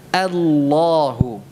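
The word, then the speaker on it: الله: Tetapi apa Allah maka perlu dijaga sifat hamzahnya a tetap tipis jangan terpengaruh dengan tafkhimnya lam ya jangan sampai terpengaruh dengan tafkhimnya ya Sehingga diucapkan tebal Allah tidak ah ya begitu cara pengucapan hamzahnya Mari kita ucapkan ya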